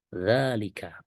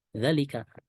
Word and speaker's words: ذلك: mengucapkan Isim isyarah dalika sekali lagi bacanya dalika bukan dalalika intinya bahwaalika baik yang ditulis dengan fathah biasa atau Fatah berdiri pada huruf dalalnya maka cara membacanya tetap sama yaitu dalika bukan Zalika ini yang ingin kita